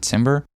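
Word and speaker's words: timbre: So if I have pitch panning, ADSR and timber, that's how you pronounce it, timber. Tambber selected and I bring this up every time I press a note.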